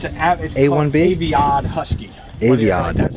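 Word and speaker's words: Aviat: Aviad. That's how you pronounce it.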